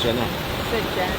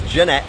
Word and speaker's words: Jeanette: not speaking this morning say my name right I said Jenna I could not have said John anybody heard me say Jenna your ears are not hearing right it's Jeanette obviously um just let you